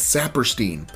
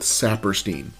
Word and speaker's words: Saperstein: him or worked for him and they consistently pronounce his name as saperstein i am a big believer that people are